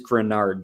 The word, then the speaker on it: Greenard: and him both said we heard pronunciation is officially grenard greenard or something it is grenard Jonathan grenard is how it's said he is um we'll